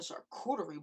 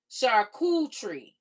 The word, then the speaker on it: charcuterie: You say, I'm a charcuterie board.